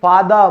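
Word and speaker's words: father: दोस्तों इंग्लिश का कोई भी शब्द हो जिसके आखिर में आर आ जाए ना भाई, उसको साइलेंट कर दो, यही रूल है।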